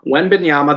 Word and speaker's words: Wembanyama: Wembanyama, that's how I've seen how to pronounce it.